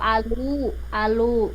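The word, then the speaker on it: aloo: Kalau alu, tapi kalau di India kan O-nya 2 itu dibacanya U, jadi alu.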